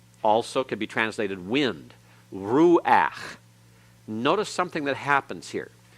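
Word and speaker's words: רוח: is pronounced after it but when it's the last letter in a word and that letter is a guttural and the path that goes under it it's pronounced before the constant so this is rule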